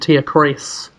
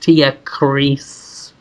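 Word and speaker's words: Tierkreis: like, and say Suikoden Tia Chris. I think it's pronounced Tia Chris.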